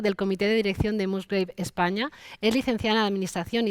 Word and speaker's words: Musgrave: Se pronuncia Musgrave, pero Musgrave. en España y aquí solemos decir Musgrave.